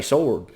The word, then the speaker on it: sword: I don't think, you ain't got to pronounce the W in sword, I don't think. I know I've got a little bit of a southern accent, but, around here, we say sword.